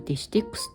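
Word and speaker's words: デシテックス: ねどっちも 330 デシテックスこれデシテックスって読むんですってとこっちも 330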